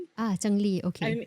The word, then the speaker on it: cengli: Yeah, it's it's a Chinese it's a Chinese concept. Changi. Ah Chungli.